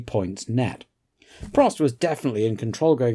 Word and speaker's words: Prost: When I was young it was Pro. Yeah. And then when I started to go motor racing it was Prost, because I think it was easier for them to pronounce that.